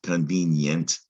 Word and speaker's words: convenient: suitable like an adjective the ie in this latin word in fact this whole syllable look at that yent convinient the y sound is being made by an i in this latin word and that is carried over to english right and we